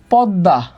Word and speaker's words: পদ্মা: তার মানে দয়ের সাথে মফলা থাকলে উচ্চারণ দ্বিত্ব হয়।